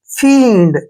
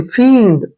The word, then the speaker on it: fiend: F का उच्चारण हम क्या करते हैं? फे, और IE को बड़ी की मात्रा पढ़ते हैं, और N को आधा नए, और D को डे। फींड ऐसे पढ़ना है, देखिए फींड, फींड कौन होता है?